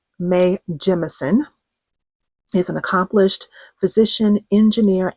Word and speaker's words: Jemison: I was always pronouncing her last name Jameson. So let me correct myself here and now. Mae Jemison is an accomplished physician, engineer, and astronaut.